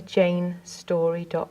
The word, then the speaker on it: Jayne Storey: about me go to Jane story calm and my name is spelt Jane is spelt with a y and story is spelt with an ey